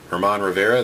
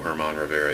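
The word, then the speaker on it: Germán Rivera: this won't know who Herman Rivera is. I guess it could be German Rivera as well, but that's pretty rare that it's actually pronounced the way it's spelled. Roy Howell, as you can see, another checklist.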